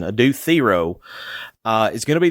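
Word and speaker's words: Adou Thiero: Adue Theo, thank you Carolyn Williams for correcting me on the pronunciation. Adu Theo uh is going to be the Xfactor.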